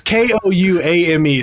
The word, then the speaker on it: Kouame: And then linebacker Jean-Francois Kouami, senior linebacker. You don't know how to say his name. Well, it's Kouame, so I'm going to be honest.